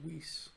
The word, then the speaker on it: Weisz: Rachel Weisz. Yep. As it's known that it's pronounced by everyone. Weiss. Wasn't learned by me 5 minutes ago.